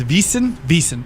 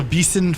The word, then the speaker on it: Wiesn: Like I say, they call it a Wiesn over there. I think I'm pronouncing it correctly. I believe it's Wiesn.